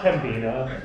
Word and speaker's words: Pembina: It's pronounced Pembina.